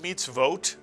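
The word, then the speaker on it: מצוות: with a dot over it is not the vowel O, but is in fact the syllable vo. How do you know? It follows a shva. And after a shva, the vav cannot be a vowel, but must be a letter, the letter V, the vav sound.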